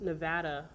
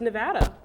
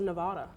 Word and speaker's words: Nevada: the first person I've met out here that pronounced Nevada the right way well how do you supposed to pronounce it it's Nevada well what else everyone else on the East Coast says Nevada no Nevada I agree or maybe because they